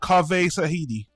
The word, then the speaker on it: Zahedi: i'm not entirely sure it should be uh sahidi okay uh directed by written by ann starry kaveh tsahidi yes um james usually